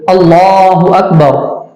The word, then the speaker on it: اللہ اکبر: ہے۔ جی بے شک۔ تو اس کا تلفظ اس طرح ہے کہ اللہ اکبر، جی سبحان اللہ، اللہ کے نام کو پر کرنا چاہیے، یعنی اس کو موٹا کرنا چاہیے، اس لیے کہ اللہ